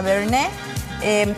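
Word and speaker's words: Bernays: por cierto Martha bernis así se escribe se pronuncia bern e con con antecedentes franceses una mujer pu que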